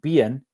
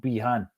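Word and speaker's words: Behan: that like Dominic Dominic be in Dublin it's pronounced be not Bean even though I've been calling him bean and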